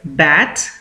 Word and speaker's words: bats: देखिए BATS अगर है तो इसका प्रोनाउंसिएशन होगा बैट्स, और अगर BATES इस तरह का कोई शब्द होता है तो उसका प्रोनाउंसिएशन हो जाता है बेट्स।